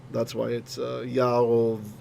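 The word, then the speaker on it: ירבעם: Okay, so coming back to Yerovam, it's a closed syllable and it's unaccented, meaning the accent somewhere else. Then what happened was the speech was so fast that the ah would become a o. So that's why it's Yarovam.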